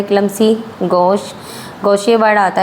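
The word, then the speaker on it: gauche: गोश। गोशिया word आता है जी ए यू सी एच की स्पेलिंग याद रखनी है।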